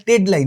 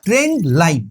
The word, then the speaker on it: ট্রেন্ডলাইন: যাবে সেটাই সবথেকে প্রথমে উচ্চারণটা ঠিক করে বল জিনিসটা ট্রেডলাইন না ট্রেন্ডলাইন মার্কেট ট্রেন্ড নাম শুনেছো